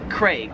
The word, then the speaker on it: Craig: In Australia, they pronounce it Craig. They really emphasize that A, Craig. Whereas in America, we just kind of pronounce that name as like as if it had an E, like C-R-E-G, Craig.